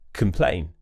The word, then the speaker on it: complain: If it's an unstressed syllable, we'll use the schwa sound on that letter O. So it will be k, that's a schwa sound, relaxed mouth. Complain, continue, combine, combust.